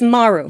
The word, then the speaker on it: Kobayashi Maru: is so funny because everybody pronounces that wrong if you go back and you watch mark for the two it's Maru because Japanese words always have the emphasis on the first syllable so it's Kobayashi Maru not Kobayashi Maru